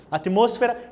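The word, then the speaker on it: atmósfera: olha espanhol aqui moço moço tá olha a pronúncia atmosfera está mais Caliente você está mais quente né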